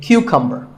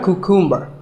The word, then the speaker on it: cucumber: now this is a cucumber it's not a cucumber think of it like saying the letter q and then cumber like number so cucumber